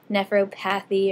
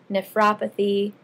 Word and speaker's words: nephropathy: these the suffixes pathies everyone wants to say nephropathy or myopathy but it's really apathy at the end of the word so it's nephropathy myopathy neuropathy okay so make sure you